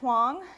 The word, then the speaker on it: Huang: voice I'm hang if you want to know about the name hang hang rhymes with wrong it rhymes with song and let's see if I can get this to play rhymes with this song that is what my name rhymes with and uh it's worth